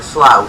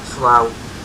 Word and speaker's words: Slough: Slough. It's like, it's a weird way of pronouncing slow, like Slough.